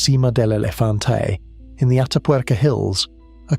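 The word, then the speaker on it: Sima del Elefante: In 2022, at a site in northern Spain called Cima del Elefante, pronounced Cima del Elefante, in the Atapuerca Hills, a crew dug fragments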